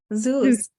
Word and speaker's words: Zeus: Sauce? Zeus.